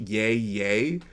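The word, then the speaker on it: Yahya: When you spell it out like that, I know it's supposed to be spelled out and pronounced yay yay, but I always think of it as Ice Cube doing yay yay.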